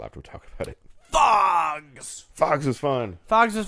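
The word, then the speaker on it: Phogs: Fogs!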